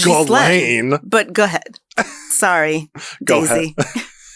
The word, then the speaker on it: Ghislaine: I feel like everybody's mispronouncing her name. I had an aunt that was her name. You did? Yeah, and that's not how you say it. How do you say it? Ghislaine.